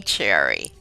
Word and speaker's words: Sherry: of eight children welcome Cherry thank you for having me it's good to be here I love your name name it's interesting that you are spell it as Sherry but it is pronounced cherry and how did that